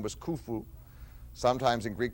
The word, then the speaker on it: Khufu: The great one, of course, the king of the fourth dynasty, his name was Khufu, sometimes in Greek called Cheops, and sometimes mispronounced in English Cheops.